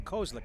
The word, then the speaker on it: Kozlik: And my guess is we'll probably see Kozik one more time. And it's Kozlik. I've been pronouncing that wrong the whole time.